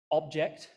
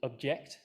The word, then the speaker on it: object: So in English, we have these minimal pairs like object, noun, and object, the verb, where they are segmentally rather similar, but they are different in where the stress lies, right? Stress on the first syllable, which I will refer to as strong, weak, SW, compared to stress on the second syllable, weak, strong, WS.